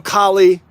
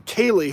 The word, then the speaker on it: Kaylee: I know Kali, Kali, who I really respect. I'm pronouncing her name wrong. Kaylee, who I really respect.